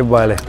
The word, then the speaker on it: Бали: Как все-таки правильно, Бали или Бали? Если мы берем Бахаса Индонезии, то большую часть слов там ударение идет на первый слог. Если мы берем балийский язык, то большую часть слов идет ударение на последний слог.